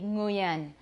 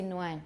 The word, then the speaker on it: Nguyen: We can't start a word with ng. So for me, it would be Nguyen. But people do say Nguyen, you're right, because they can't pronounce an ng at the beginning of a word in theory.